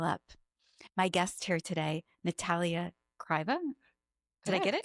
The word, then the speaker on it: Natalya Krayeva: My guest here today, Natalya Krayeva. Did I get it? Correct. Yes. Say it. You say it so beautifully. How do you say it in Russian? Natalya Krayeva.